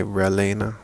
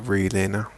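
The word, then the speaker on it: Relena: Some people say Relina, but I pronounce it Relina.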